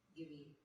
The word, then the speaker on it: Giveon: So, but it's spelled like Gideon, but instead of the D, it's a V. Gideon.